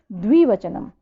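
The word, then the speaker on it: द्विवचनम्: द्वि बोलने में थोड़ा सा उच्चारण बच्चों का गलत हो जाता है, द्विवचनम, ठीक है, इसको ऐसे उच्चारण करना है, द्विवचनम, ठीक है।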